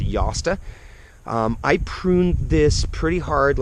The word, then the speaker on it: Jostaberry: It's spelled J-O-S, so a lot of people say Jostaberry. I believe it's pronounced Josta.